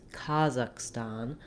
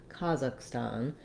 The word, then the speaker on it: Kazakhstan: First of all, in American English, we would pronounce this with first syllable stress.